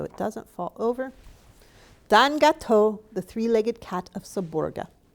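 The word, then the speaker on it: gâteau: savior arturi was Don gato's true savior Linda McCluskey Don is Italian for sir gato is French for a pastry with cream pronounced gato saborga is pronounced I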